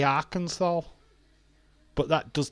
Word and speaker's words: Arkansas: That does not say Arkansas. It's got an A and not an O. It's how it's pronounced.